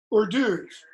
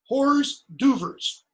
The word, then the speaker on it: hors d'oeuvres: What's the first word? You pronounce it or. You don't pronounce it hors d'oeuvres, I hope, okay? But it begins with an H. You have no initial H sounds in French. Nothing in French would start with okay?